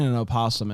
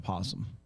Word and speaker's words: opossum: crackles back to you what's the difference between an opossum and a possum and opossum's the correct way to say it why i don't know because it starts with oh but why i don't